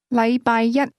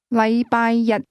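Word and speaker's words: 禮拜一: The difference is that the word one, used with Monday, is pronounced with a high level tone while the word day is pronounced with a low level tone.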